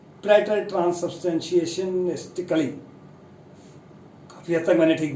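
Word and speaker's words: praetertranssubstantiationistically: तो इसकी जो प्रोनाउंसिएशन है वो है प्रेटर ट्रांससब्सटेंशिएशनिस्टिकली।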